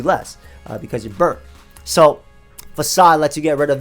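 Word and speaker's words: Façade: is so powerful that it has to use fake aid pronounced facade but it's fake aid in this case it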